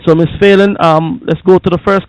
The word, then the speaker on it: Phelan: I don't want to mispronounce the name. Is it Phelan? Yes. Phelan, yes.